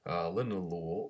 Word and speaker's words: linalool: Linalool or linalool, depends on which part of the country you're from or the world, pronouncing it.